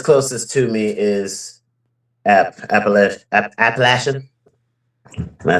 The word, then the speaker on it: Appalachia: They're like, "You're supposed to say it like throw an apple at you." Like, "Throw an apple at you." That's how they say it. Appalachia. Appalachia.